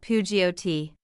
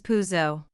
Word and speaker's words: Peugeot: Not Peugeot. Correct is Peugeot.